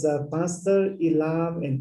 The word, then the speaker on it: Ilam: Can you pronounce that again? It's a Pastor Ilam and Taplejun corridor.